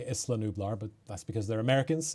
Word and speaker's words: Isla Nublar: think i'm mainly seeing a lot of isla nublar here or illa nublar i guess it's the proper pronunciation always trip me up because i'm scottish and it's always going to be isla today yeah i